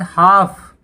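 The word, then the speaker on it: half: उसके बाद हाफ, हाफ मतलब आधा, तो यहाँ पे L silent, L silent, L silent.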